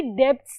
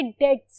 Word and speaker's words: debts: ये यहाँ पे जो बी होता है ना डेट का, वो साइलेंट होता है. आपने कभी भी डेब्ट्स नहीं पढ़ना, ये डेट्स है.